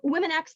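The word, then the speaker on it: womxn: um on to uh women acts just out i'm going to be perform uh pronouncing the word w-o-m-x-n as women acts just to differentiate from the word women with an e or an a um women x is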